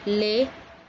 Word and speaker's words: लें: और लें जिसमें बिंदी है, उसके उच्चारण में भी एक न का स्वर, न का साउंड, आपको न की ध्वनि सुनाई देती है।